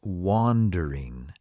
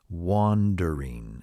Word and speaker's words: wandering: the same thing now some people have a difficult time pronouncing wondering wondering because there's another English word that is very close to it wandering wandering and wandering means walking